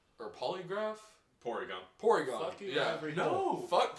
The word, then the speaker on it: Porygon: My least favorite would have to be, and I might be pronouncing the name wrong, mainly because I don't give a shit about this Pokemon. Polygon or Polygraph? Porygon.